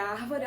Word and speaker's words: árvore: palavra árvore perceba que se eu for falar a palavra árvore a árvore a sílaba antepenúltima aqui é a sílaba mais forte fica fácil ela é